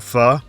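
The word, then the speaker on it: phở: making the broth for fur. Yes, it's pronounced fu, not fo to the dismay of every Vietnamese restaurant in America.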